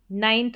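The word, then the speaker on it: know: अब नंबर 10 पर है के एन। यहां पर के साइलेंट रहता है। एन से शुरू करेंगे। जैसे नाइफ और नो। के एन का कॉम्बिनेशन। यहां पर के साइलेंट रहता है। के का उच्चारण नहीं होता। इसको हम नहीं पढ़ते हैं। लेकिन हां, स्पेलिंग में लिखना पड़ेगा।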